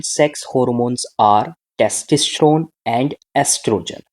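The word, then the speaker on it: estrogen: सो दी The two common sex hormones are टेस्टोस्टेरोन एंड एस्ट्रोजन। एस्ट्रोजन को हम क्या बोलते हैं, ओस्ट्रोजन भी बोल देते हैं, उसकी जो स्पेलिंग होती है उसको हम ऑस्ट्रोजन भी बोल देते हैं।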